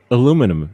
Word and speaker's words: aluminum: h sounds the same they don't seem to understand that aluminum is the correct way to say do you want to